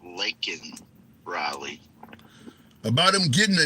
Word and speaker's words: Laken Riley: So, what do you think about the president saying Lincoln Riley and not Laken Riley? About him getting the name wrong?